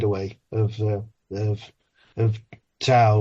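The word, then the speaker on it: Tao: of the of of to or da I think is the correct way to say it uh and like how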